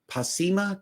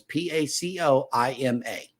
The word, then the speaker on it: Pacoima: star, was born in Pasima, California. I'm not sure if the O or if the I is silent on this one. Is P-A-C-O-I-M-A.